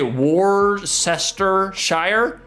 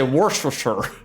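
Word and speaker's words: Worcestershire: It's funny because I say Yorkshshire not like Yorkshshire like the uneducated but I but at the same time I don't say Warcester Shshire I say worst for sure.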